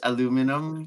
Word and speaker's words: aluminum: There's the one without how you pronounce it in Europe is aluminium, but it's aluminum in the Aluminum. US.